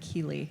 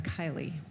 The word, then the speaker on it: Kylie: Kyle I am so sorry I mispronounced your name I said Keely and it's Kylie my apologies so sherry